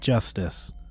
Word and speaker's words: Justus: So, yeah, his name is spelt Justus, but they pronounce it Justice.